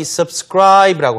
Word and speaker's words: subscribe: 자, 구독하다 동사가 바로 이 subscribe라고 하는 단어입니다. subscribe. 발음이 좀 어렵죠? subscribe. 뒤에 강세가 하는데요.